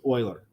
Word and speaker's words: Euler: Euler's formula Euler's formula and yes that is how you pronounce this is Euler because all of us being Americans we'd say something like you were Euler's formula is